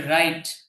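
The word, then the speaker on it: write: তাহলে রাইট, রাইট অর্থ লেখা।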